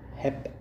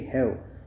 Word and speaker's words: have: This should be the correct pronunciation would be have. H A V E. Now how to pronounce? V, I already taught you. The pictorial representation I have already shown you. Okay. So this is wrong pronunciation. Hap.